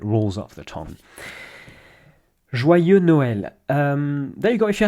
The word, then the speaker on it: Noël: Joyeux Noël. Et voilà, there you go. Joyeux Noël. again, say it several times in a row so that it rolls off the tongue. Joyeux Noël.